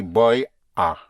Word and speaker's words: voy a: Though it is spelled in two words, but in the spoken language, you contract the boy, a to boya, boya.